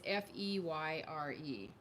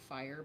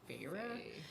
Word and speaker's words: Feyre: Maddie told me it's Feyre because I think she's listened to it on audio. It's Feyre. Okay. So I always in my head think fire, but I know it's Feyre.